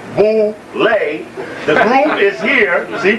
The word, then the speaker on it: Boulé: Known as Boule, pronounced Boule, the group is here.